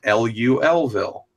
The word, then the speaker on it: Louisville: Louisville and I got an education that it's pronounced like Lu l Ville like a Louisville I don't know why little